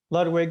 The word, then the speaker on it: Ludwig: it was a ludwig american saddle how you pronounce it ludwig ludwig yeah yeah yeah okay same kind of